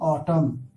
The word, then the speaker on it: autumn: कायदा है अगर एम के बाद एन हो तो एन हमेशा साइलेंट रहता है। जैसे AUTUMN, ऑटम।